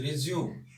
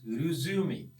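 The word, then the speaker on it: résumé: First of all, it is pronounced as resume, but in Indian language or in even pronunciation, because there is always regional impact on the pronunciation, we called it resume.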